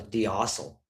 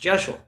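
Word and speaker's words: deosil: Like I'd read the words before, but I'd never heard them pronounced, you know, I always thought it was dil. But apparently D E O S I L is pronounced Jeshu.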